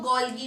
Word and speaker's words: Golgi: Okay, इसको कोई कोई लोग गोल्गी भी बोलते हैं, गोल्जी भी बोलते हैं, ठीक है, डिपेंड, स्पेलिंग तो सेम ही है, राइट।